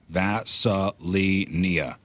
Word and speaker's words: Vaselina: So she says it's pronounced V-A-H, Vaselina.